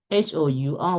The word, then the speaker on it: hour: H-O-U-R, we don't pronounce hour.